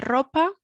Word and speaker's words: ropa: station la tienda de ropa remembering we've got the r sound at the beginning la piscina la piscina